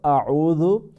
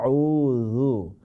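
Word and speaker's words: أعوذ: আউযু, আউযু নয়, আউযু।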